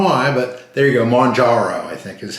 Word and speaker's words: Mounjaro: Mounjaro, I think, is how you say it properly.